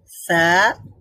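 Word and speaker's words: ث: উচ্চারণ করব বলুন তো সা এর উচ্চারণটা কিভাবে করব জিহ্বার অগ্রভাগের জিহ্বার অগ্রভাগ উপরের দাঁতের অগ্রভাগের সাথে টাচ করবো টাচ করবো মিলাবো তারপরে আমরা উচ্চারণ করব মাশাল্লাহ আর জিমের উচ্চারণটা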